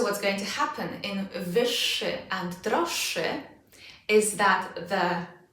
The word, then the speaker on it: wyższy: The exact same thing is going to happen with wyższy. Again, not szy, wyższy. The ż z kropką becomes unvoiced.